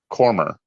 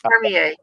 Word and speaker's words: Cormier: a gentleman years ago whose name on paper I pronounced Simon Cormer. And I got my... Yeah, but it's Cormier. Yeah, it's Cormier, right. Yeah. Got chewed up because his name is Simone Cormier. Yeah, Simone Cormier. Right, Cormier. Yeah, and I was like... Yeah, you don't even pronounce the last R at the end.